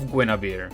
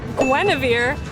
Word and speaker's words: Guinevere: Then move on, and now it's working for Glitching, a new show by the name of Nights of Guyavir. It's pronounced Weneavir.